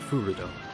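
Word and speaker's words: フルド: Okay, so it's more the emphasis is on the first fu, the furudo.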